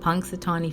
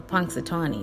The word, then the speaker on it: Punxsutawney: And if you know how to spell Punxsutawney, it's spelled Punxsutawney. Punxsutawney. I think you say the N.